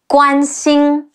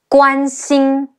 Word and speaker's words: Guan Xing: An Guan Pe Ying Ping, Guan Ping, and Guan Xing. Ge Wu An Guan Xi Yin Xing Guan Xing.